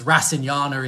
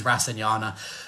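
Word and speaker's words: rasayana: briefly yesterday so so there's a different pronunciations rasana is is one pronunciation Ras is another I use rasana um rasinas are labeled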